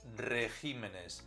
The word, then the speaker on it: regímenes: El plural de régimen es regímenes. El acento se desplaza al decirlo o escribirlo en plural.